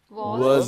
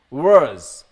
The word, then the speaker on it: was: There are two ways. Less. No. Two ways. Wish. Wait. Okay. First one is, you can pronounce this as worse. Worse. Worse. Okay? Worse. Worse. Worse. And the other one is was. Was. Was. Was. Was. Yes. Was. Was. It is depend on your easiness.